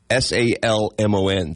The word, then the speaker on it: salmon: oh yeah they corrected me alond like you pronounced the l oh God how do you say s a l m o n the fish salmon okay I thought maybe it